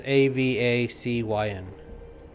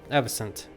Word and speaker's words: Avacyn: It's Avacyn. Oh, that's completely wrong. Yep, Avicent with a T, but there's no T in the spelling.